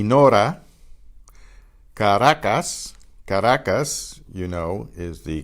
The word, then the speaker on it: Caracas: The next group, the single R between vowels particularly, is pronounced almost like the R, almost like the D in English.